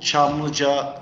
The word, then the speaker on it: Çamlıca: tower ali-chan is yes it's actually called chamlija tv and radio tower is the name